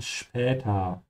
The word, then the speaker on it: später: But we're going to use the short sentences to remind everyone that whenever you have S that comes before a P, it's pronounced like sh. So this is why we say spüren and später.